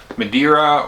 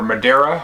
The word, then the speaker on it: Madeira: going to talk about madira or Madera I'm not sure how you pronounce it I think you can pronounce it either way uh this is a